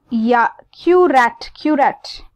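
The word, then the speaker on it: Queyrat: Then you have the erythroplasia of curat. Let's see how it's pronounced.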